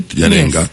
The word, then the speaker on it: Yennenga: I hope I pronounce her name right. Yennenga.